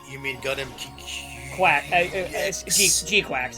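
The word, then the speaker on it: GQuuuuuuX: G Quacks is how you pronounce it.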